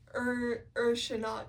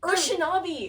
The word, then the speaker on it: Urshanabi: I still don't know how to pronounce his name. I'm calling him the boatman. No, it's like Urshanabi. Urshanabi.